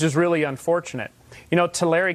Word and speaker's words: Tulare: really unfortunate you know Tulare County is how it's pronounced actually but the Tulare County